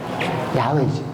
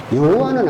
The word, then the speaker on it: 야훼: 그러면 야훼의, 이 신성문자 앞자의 발음은 뭐예요? 야가 맞다는 거예요. 여가 아니라 야가 맞다는 거지. 그리고 구약성경에 보면 야훼 이레라고 돼 있어요. 그래서 이 글자가 지금 현재 가장 올바른 발음은 뭐예요? 야훼지. 여호와는 아니에요.